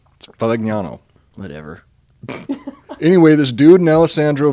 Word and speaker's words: Valignano: to say it out loud, I was like, Valignano. Whatever. Anyway, this dude, Alessandro Valignano, arrived in the city of Kyoto, Japan.